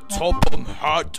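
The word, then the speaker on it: Topham Hatt: That's pronounced Topham Hat, thank you very much.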